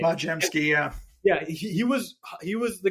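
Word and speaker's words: Podziemski: I can never pronounce his last name. Podjemski, yeah.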